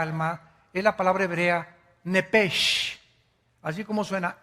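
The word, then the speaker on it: נפש: palabra la letra o las letras sh en el hebreo se pronuncian en hebreo como J Entonces se pronuncia nepe y los los judíos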